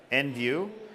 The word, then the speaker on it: Envu: a note on the name EnV viw is pronounced EnV viw and it's meant to signify that we are